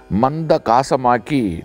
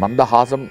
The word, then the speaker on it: மந்தஹாசம்: யானைக்கு ஏற்படும் மதமே மதம், ஆனால் சிலர் மந்தஹாசத்தை மந்த காசமாக்கி சொல்லுகிறார்கள். மந்தஹாசம் என்கின்ற வார்த்தையை மந்தகாசம், மந்தகாசம் என்று சொன்னால் சுமாரான காச நோய் என்று பொருள், ஆனால் மந்தஹாசம் என்று சொன்னால் அது வேறு பொருள்.